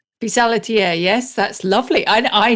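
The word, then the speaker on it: pissaladière: I'm not sure how to pronounce it. It's something like Pisa Ladier. Pisadier.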